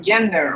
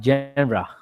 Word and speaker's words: genre: But in I mean, it's not gender, right? No, it is a genre.